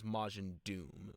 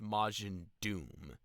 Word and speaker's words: Majin Duu: Yeah, I believe the pronunciation was Majin Doom, but it's not spelled that way.